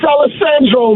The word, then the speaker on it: Alejandro: Did I get your name right there, Alejandro, or is it Aleandro? I I I didn't know. So, I didn't want to get it wrong. People get my last name wrong all the time, so I understand that. I feel your pain. But I just want to make sure, bro, that I got it right. Yo, it's Aleandro, man.